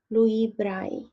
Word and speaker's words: Louis Braille: impact in people's life this person is called Louie Bray or as you know english-speaking people pronounce it brain because he invented the writing